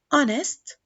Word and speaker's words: honest: Let us move to the silent H, like what, honest, white, and Hour.